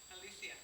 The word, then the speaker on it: Alicia: How do you say your name? Alicia. Alicia. I'm saying in Spanish, okay?